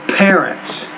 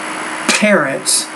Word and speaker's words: parents: when you see parents you need to pronounce the p with more air so parents the P sound is so explosive in English think about it when